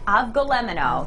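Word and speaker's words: Avgolemono: I'm going to let you give the correct pronunciation of this Avgolemeno. One. Avgolemeno. Avgolemeno.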